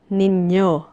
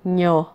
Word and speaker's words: ninyo: the taste of lambanog Our next pronoun is ninyo ninyo it is the plural form of you and your it is often pronounced as Noo noo noo is used to talk about the